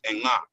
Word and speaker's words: Ankh: For us, Ankh, how you guys are pronouncing Ankh, it's like, it sounds weird to us because what we would say is Enga, and it breaks down to 4 different meanings.